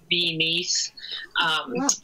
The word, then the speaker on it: Fy Nyth: it wanted speaking Welsh it's more properly pronounced something like be neat but at that point I have been saying it for a while so I still just say fine and have to say